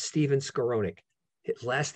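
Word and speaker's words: Skowronek: out the author's name for you it's steven scaronick his last name is spelled s-k-o-w-s-k-o-w r-o-n-e-k stephen scaronick and he spells it s-t-e-p-h-e-n and it's called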